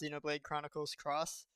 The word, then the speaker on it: Xenoblade Chronicles X: reason for this is into the Japanese version The Game's title is pronounced Xenoblade Chronicles cross so it fits but